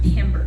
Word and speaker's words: timbre: Yes, it's pronounced timbre.